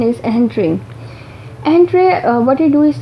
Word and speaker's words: Entrez: search and retrieval system that is called as EHENTRE. EHENTRE, its spelling is ENTREZ, but its pronunciation is EHENTRE.